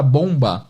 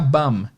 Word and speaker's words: bomb: Só que na vida real, o pessoal vai pronunciar bum. Bum. A pronúncia é meio que B-A-M. Bum. Não tem B e o primeiro O tem som de meio que de A.